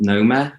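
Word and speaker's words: Knoma: With this one called NOMA, with a silent K at the start, it's interest-free as well.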